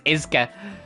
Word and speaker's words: Escha: Oh, she said, yeah, she just says Iska. That's so weird. I'm probably gonna stick with Escha, but it's like with fucking Leonie and how I called her Leanne.